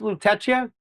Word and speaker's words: Lutetia: Is it pronounced Lutetia?